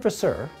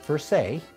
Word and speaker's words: verser: an automatic wine pour the word for sir or i should say it pronounced for say in french means to pour my friend kate a